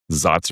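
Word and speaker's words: Saaz: So, a lot of the double I mean, Zots or Sots or however you want to pronounce it.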